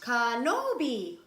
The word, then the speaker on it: Kenobi: oh TV no no it is pronounced Kenobi oh okay r2d2 and